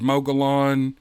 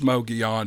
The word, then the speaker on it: Mogollon: Just because I've officially made Mogollon the correct pronunciation for that word, you can still use Mogollon if you want. You have my blessing on that. I just want you to know.